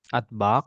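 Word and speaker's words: أطباق: Aina tagsilul atbaq? Atbak, Bapak panjang.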